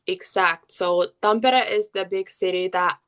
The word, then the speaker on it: Tampere: Um, Forgive me if I don't pronounce the name right, but you grew up in Tampere. yes, Tampere, yeah, that's like the area that I grew up in.